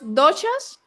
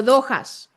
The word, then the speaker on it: doshas: Vale, el Ayurveda, Luz, por lo poco que sé, habla de unos, corrígeme si lo pronuncio más, unos doshas o dojas.